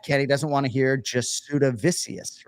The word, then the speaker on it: Jasudavicius: Jasmine Jasdavizius. Jasmine Jasdavizius. Yeah, and like her dad, Kenny, doesn't want to hear Jasudavicius, right?